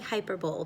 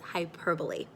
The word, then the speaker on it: hyperbole: It looks like hyperbole, but remember, it is not pronounced that way. It's hyperbole.